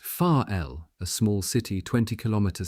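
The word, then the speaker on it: Varel: control commission for Germany at Varrell, pronounced far l, a small city 20 km south of Wilhelms Haraven and on the same large bay in the North Sea coast.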